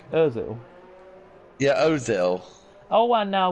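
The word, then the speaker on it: Özil: Is it Uzil? Uzil, sorry, I keep messing it up. Never mind. Sounds like a football player's name. Ozil.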